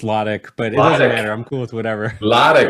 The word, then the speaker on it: Lotich: I forgot to pronounce is it low titch I forgot that say how you pronounce your name no it's logic but it doesn't matter